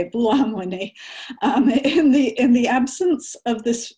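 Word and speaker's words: Buolamwini: Sorry, Joy, I do know how to say it, Belluamwini.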